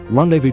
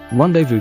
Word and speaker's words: rendezvous: Rendezvous comes from the French word rendezvous, and has kept almost the same spelling, only losing its hyphen, and a somewhat similar pronunciation.